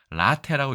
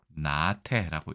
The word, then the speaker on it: 懶怠: 그래서 라테라고 읽어야 되는데 두음 법칙에 의해서 나테라고 읽게 됐다라고 보시면 될 것 같습니다. 어느 정도 이해가 되셨는지 모르겠습니다. 그래서 이걸 나태 국어사전에 찾아보면 이렇게 되어 있습니다.